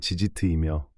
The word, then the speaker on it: tzitzit: 지트의 발음은 지지트이며 복수형은지지 또는 단순히 지치트라고 부릅니다.